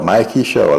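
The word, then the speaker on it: Mikie Sherrill: Uh Mickey Sher, Mikey Cheryl, I have to I keep saying Mickey. Mickey Mickey would be the pronunciation in Creole or French.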